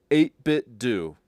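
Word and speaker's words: 8BitDo: But then on X, uh, the head of the company says it's officially pronounced 8bit dow, which I think is so often wrong, but that's the name of the company. So these these controllers are called 8bit do and not do.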